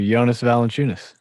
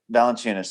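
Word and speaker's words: Jonas Valančiūnas: Jonas Valenunis. Valenunis. Thank you. I can spell it, but I can't say it.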